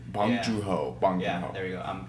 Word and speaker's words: Bong Joon-ho: I think it's Bong Joon-ho. Bong Joon-ho. Yeah, there you go. I'm terrible at pronouncing names.